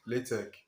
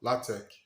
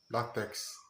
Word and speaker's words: LaTeX: what is latex attack is produced sorry it's pronounced latex or latex and not lactex it's a document preparation system for high quality